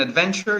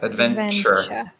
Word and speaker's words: adventure: focus activity describing an adventurer using conditionals overcoming fear and let's be careful with pronunciation and in English this ture is it Chuck yeah adventure adventure insurance hmm so let's